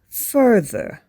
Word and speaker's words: further: the other one is further further the emphasis is on the UR fur further both words